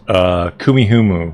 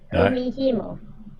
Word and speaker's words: Kumihimo: It's Kumihumu, which is, or Kumihumo? How do you say it? Kumihimo.